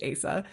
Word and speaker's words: Asa: And look, that is a name that on the page, who knows how to pronounce it? Her name is really a choose your own adventure, but in my head, it's Asa.